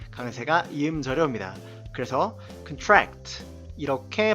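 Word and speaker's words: contract: 말씀드렸던 것과 마찬가지로 강세가 em 저려 옵니다 그래서 큰 트랙 트 이렇게 발음이 되고요 게 약하다 란 의미가 되죠 그런데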